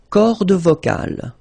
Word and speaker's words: cordes vocales: Les cordes vocales. So you can notice that as usual in French, you've got this mark of the plural at the end, S. And then S here as well, but you don't pronounce them, okay?